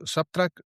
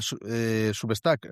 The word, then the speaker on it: Substack: Muy bien, pero tienes subtrack. Nunca lo pronuncio bien. ¿Cómo es? Substac. Substac, sí.